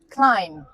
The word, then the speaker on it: climb: Climb. The B is silent, but climbing is not easy.